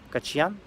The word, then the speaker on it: Качьян: в частности его зовут вардан кочан вот так вот ударение составит он армянин и значит